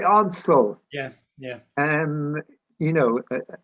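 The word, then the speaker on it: Ordsall: they pronounce it they're they're pronouncing odds yeah odds are the locals call it oddsso yeah yeah um you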